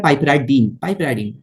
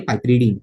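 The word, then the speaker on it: piperidine: और इसका भाई है पाइपराडीन, पाइपरीडीन सॉरी पाइपरीडीन, इसको प्रोनाउंस करेंगे पाइपरीडीन।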